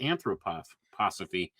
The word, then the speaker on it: anthroposophy: So he went and he formed his own organization called anthroposophy. I don't know if I could pronounce that right. Anthroposophy that's how it's pronounced.